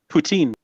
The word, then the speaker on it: poutine: food what is it how is it correctly pronounced huh poutine yeah fries gravy and cheese curds mixed up